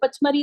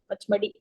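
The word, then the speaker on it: Pachmarhi: Pachmari is also in Madhya Pradesh. Pachmadi or Pachmari, Pachmadi basically the pronunciation is, and Adamgarh hills.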